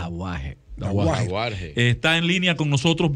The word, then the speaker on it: Dauhajre: Dahuar, así es, ¿cómo se pronuncia? Dahuar.